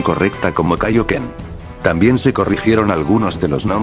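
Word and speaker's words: Kaiōken: En los doblajes de Ocean y el de Funimation para Z, este término se decía incorrectamente como Kaioken. Curiosamente, la única vez que se pronunció correctamente fue en las películas dobladas por Ocean y producidas por Pioneer y Funimation en 1997 y 1998.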